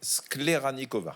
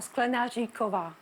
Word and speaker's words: Sklenaříková: Adriana, votre nom de jeune fille est en fait Skleranikova. Non, forcément c'est bien écrit. Et vous lisez mal, tout le monde lit mal. Ouais. Je sais pas. Ça se dit comment? Skleranikova. Non, Sklenaříková.